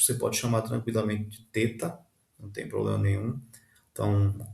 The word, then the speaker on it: teta: O nome é, você pode chamar de teta, mas a pronúncia correta seria o th do inglês e como em think ou thank you ou então with, né? Esse som aveludado com a a língua entre os dentes.